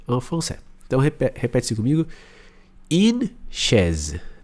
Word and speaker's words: une: Só que ao invés de você falar U, você faz a boca do U, mas pronuncia a letra I.